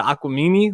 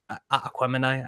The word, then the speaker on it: Aquemini: I'm like listening to Aquamini, like Aquemini. I know I said it wrong. I Gemini, say Jesus. Aquamini. Yeah, I've always said Aquamini. I know it's Aquemini.